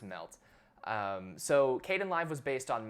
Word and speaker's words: MLT: on the same framework called MLT and it's pronounced melt so kdenlive was based